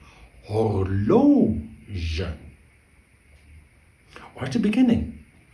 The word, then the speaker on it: horloge: Horloge.